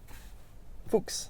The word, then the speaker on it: Fuchs: Fuchs, like the Porsche wheels.